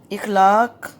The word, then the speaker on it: اخلاق: سوال نمبر 5 کریں گے۔ اعراب لگا کر تلفظ واضح کریں۔ اخلاق، الف زبر خے، اخ، لام الف زبر لا،